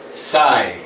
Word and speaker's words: psi: These, the angles opposite these sides and corresponding to the vertices, that is a Greek letter psi, psi, pronounced psi.